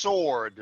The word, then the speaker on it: sword: me mention one thing the W in sword is silent so it's pronounced sword swordsmen sword thank you